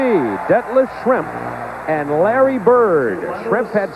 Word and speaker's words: Schrempf: So we have Schrempf. If you mispronounce it a little bit and call it Shrimp, and Bird, we kind of fish and foul.